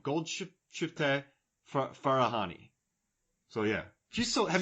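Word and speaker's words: Golshifteh Farahani: I I've learned how to pronounce this name. Gold shift Farahani.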